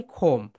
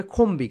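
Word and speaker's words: comb: মাথায়, এটাকে বলা হয় খোম। খোম। ওকে। আমরা কিন্তু অনেকে এটাকে বলতে শুনবে খম্বি, খম্বি, তারা কি বলে বলতো? খম্বি, খম্বি। কিন্তু রাইট প্রনাউন্সিয়েশন খোম। বি হচ্ছে সাইলেন্ট লেটার।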